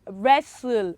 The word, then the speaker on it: wrestle: And number 4, we have wrestle. What is missing? What is silent? It is W. W is silent because from the word wrestle, it means we started from her, right?